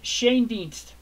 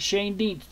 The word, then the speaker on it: Schoendienst: Red Schoendienst is how you pronounce it. Schoendienst is how you pronounce it, not Shane Dienst, Al. It's Shane is pronounced. The head is on the Shane.